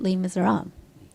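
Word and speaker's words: Les Misérables: 내가 오늘 발음 레미제라블 그러니까 이 발음이 잘 안 됐대. And so you pronounce it Les Miserables.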